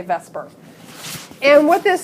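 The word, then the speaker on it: VSEPR: call Vesper theory and I don't know how people actually pronounce that I've been saying Vesper my entire adult life valence shell electron pair repulsion I think most people say Vesper and what this says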